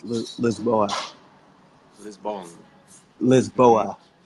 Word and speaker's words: Lisboa: lisbon lisbon or for the locals it's loose lisboa this ball lisboa it's yeah it spell completely